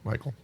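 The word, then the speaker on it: Michael Hsieh: say it michael or michelle oh it's michael michael h-s-i-e-h absolutely and five ways five themes of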